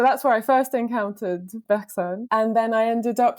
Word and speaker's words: Bergson: Sometimes Anglophones are tempted to say Bergson, but actually that's not that would be, I guess, the French pronunciation, but that's not how it's pronounced because it's Bergson.